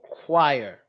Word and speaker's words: choir: is this is choir okay so choir that's how it's pronounced don't ask me why